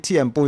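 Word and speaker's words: tiempo: TMO is how you say time in Spanish.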